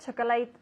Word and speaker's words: chocolate: true okay I prefer chocolate ice cream chocolate chocolate ice cream instead of vanilla ice cream vanilla vanilla yes it's interesting we say chocolate chocolate two syllables chocolate chocolate chocolate chocolate